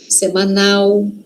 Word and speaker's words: semanal: Semanal, a pronúncia aqui sempre é de U no final, né? L no final, tá?